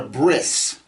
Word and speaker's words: brit: sects of jews who pronounce the t sound at the end of a word as an s you'll hear it in shabbat they'll say shabbas or brit they'll call it a